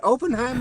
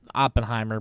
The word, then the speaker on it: Oppenheimer: just watched opener okay is it opener or Oppenheimer it's op it's Oppenheimer but I don't people saying opener what is that it's just a mispronunciation but then you get